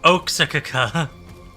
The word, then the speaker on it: Oaxaca: Wow, the bot butchered that entire paragraph. Yeah, Oaxaca.